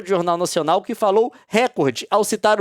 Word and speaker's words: recorde: uso sistemático da pronúncia record crime, mas não retornou o contato. Tem jeito de certo de falar. Recorde é de fato uma palavra paroxítona, conforme lá a a norma culta.